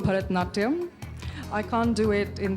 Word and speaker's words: Bharatanatyam: Help me pronounce it and show us a few steps. Well, it's called Bharatanatyam.